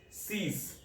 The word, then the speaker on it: six: six, cease, six, cease.